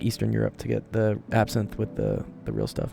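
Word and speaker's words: absinthe: It is pronounced absin.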